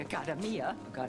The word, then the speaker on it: Accademia: Well, the Accademia, sorry, that's how it's pronounced.